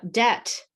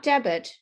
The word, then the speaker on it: debt: Uh, debt. Debt, not debit. It's debt.